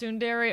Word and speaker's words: Tsundere: It's pronounced Tsundere.